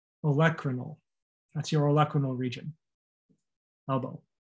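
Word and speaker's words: olecranal: l e c r a n a l electronyl the emphasis is on the e electronyl that's your olecranon region elbow the back of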